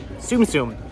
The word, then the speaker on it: Tsum Tsum: the standard size it's TS M TSU M pronounced susum Tsum and that's what these are this is a